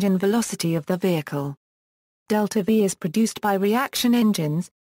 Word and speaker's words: delta-v: delta-v, symbolized as IV and pronounced delta-v, as used in spacecraft